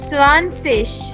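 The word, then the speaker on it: zwanzig: एंड 20 remember Z आई जी is pronounced as what जिश सो 20 becomes ज्या good Puneet 20 becomes स्वानशिष स्वानशिष जिया good wonder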